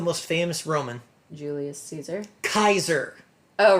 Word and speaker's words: Caesar: in this particular case I am willing to believe that Kaiser is actually the correct pronunciation okay so where all